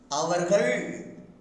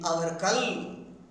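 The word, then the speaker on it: அவர்கள்: Even most of Tamil scholars pronounces il instead of il, instead of saying avargal. Some people say avarkal, vandargal, vandarkal.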